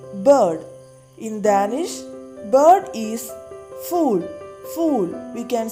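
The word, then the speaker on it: fugl: In Danish, bird is fool. Fool. We can say bird as fool in Danish. So everybody repeat it. Fool.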